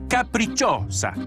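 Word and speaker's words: Capricciosa: them on the capricos wait how do you say this caprichossa it's a caprichosa oh thank you this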